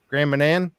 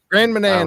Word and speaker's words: Grand Manan: Um Andrew Jones, Grand um Oh, I butchered this last time. Grandman. Graham Manan. Grand Manan Island.